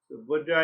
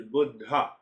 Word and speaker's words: Buddha: in in this country we say Buddha Buddha is AIT word which means old guy the actual pronunciation is budha Bud budha Budd so Buddha